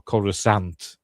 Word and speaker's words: Coruscant: It's all kicking off over Coruscant, or Coruscant, as Christopher Lee pronounces it.